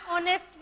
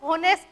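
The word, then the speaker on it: honest: हम इसको होनेस्ट नहीं पढ़ेंगे, अगर होनेस्ट पढ़ेंगे तो आर्टिकल गलत हो जाएगा। हमारी जो प्रोनाउंसिएशन है इसकी वो क्या होगी, ऑनेस्ट, यानी कि फर्स्ट लेटर जो हमारा एच है वो साइलेंट है, तो ओ की प्रोनाउंसिएशन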